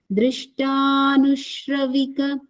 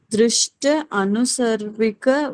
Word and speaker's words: दृष्टानुश्रविक: Drishtanushravika Vishaya Vitrishnasya Vishaya Vitrishnasya Vashikara Sanya Vairagyam. Got it? Yes, ma'am. Okay. Mintu ji? Madhanika? Ma'am, Drishta Anusarvika Vaishya Vidurnashya Vasikara Samya Vairakyam.